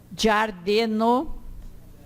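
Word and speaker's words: ĝardeno: O G com acento seria jo. É sempre pronunciado como DJ do inglês, do general. Então, giardino, girafo, patio.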